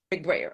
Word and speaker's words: McBrayer: McBrayer.